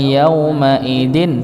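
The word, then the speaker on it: يومئذ: Wujuhu yawma idin khashi'ah. Nah, ini terpotong. Okay. Maka tetap harus ada aliran sedikit pada dengungan, dikit pada nun sukunnya.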